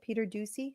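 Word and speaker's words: Peter Doocy: how you say it Peter Ducey I think it's juicy yeah exactly I I love that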